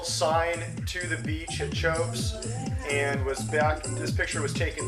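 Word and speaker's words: Teahupoʻo: So the contest actually takes place at Chopes, which is spelled a little bit differently than it's pronounced.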